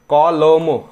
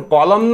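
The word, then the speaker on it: column: गरजेच्या असते इथे कॉलम इथे एन सायलेंट आहे कॉलम आपण काय म्हणतो कॉलम असं आपण कॉलम न म्हणतो काय कॉलमन नाही म्हणत असं कॉलम नाही म्हणत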